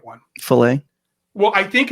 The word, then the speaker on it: Faile: This one is spelled Faile. Filet. So I nailed it, didn't I? what I love is that Steve is trying, because it was always fail to me.